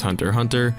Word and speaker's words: Hunter x Hunter: shonen jump manga series hunter x hunter pronounced hunter hunter by yoshihiro togashi is